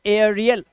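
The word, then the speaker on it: aerial: हमारा कहता है कि जब किसी शब्द में एई के बाद आर दिया हो एई के बाद अगर आर हो तब क्या करोगे उच्चारण एई का उच्चारण ए आ कर देना क्या कर देना ए आ अब जैसे इसे क्या पढ़ेंगे एई के बाद आर दे रखा है तो इसे पढ़ेंगे एरियल एरियल इसी तरह से इसे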